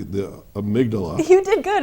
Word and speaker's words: amygdala: Let me see if I can say it correctly, the amygdala. You did good, amygdala.